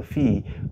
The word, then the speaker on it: phi: totient of n or what we call the Fe of n okay some people call it fi but the correct pronunciation is f okay now so we're